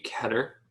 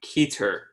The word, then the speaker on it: Keter: know better object class Keter special containment I understand that originally it was supposed to be quatre but I am a big fan of the keator pronunciation of the word so every time I